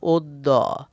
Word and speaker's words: অদ্য: অদ্য শব্দের উচ্চারণ? উত্তর ওদ্য।